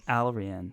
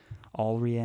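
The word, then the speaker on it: Allrianne: oh rhian chet's daughter rhiann that's how you pronounce it alright already yes already already all right i think you got there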